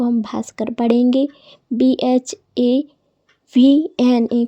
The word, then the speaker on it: भास्कर: तो दोस्तों, जब बी के बाद H आए तो हम उसका उच्चारण भा करते हैं। जैसे कहीं भी आपको BH दिखे तो उसको हम भा पढ़ेंगे। जैसे कि BHUSHAN, इसको हम भूषण पढ़ेंगे।